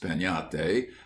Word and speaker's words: piñata: But everywhere children would be talking about breaking a piñate, pronounced peñate, as you talk of having a tree.